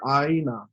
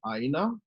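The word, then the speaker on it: ʻāina: you hear the word aina or i see that word i want you to pronounce it with the conco ah you know they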